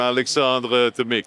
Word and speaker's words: Alexandre Tomic: I like the way you pronounce my name, Alexandre Tomic.